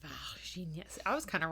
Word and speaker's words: Varginha: So, and he actually goes to Varginha and interviews people who were there, because this was less than 20 years ago.